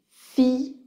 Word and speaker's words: fille: ça donne en Provence champagne montagne Allemagne famille fille bouteille observez que le l de l ne sont pas prononcé c'est comment ilonille fille bouteille par contre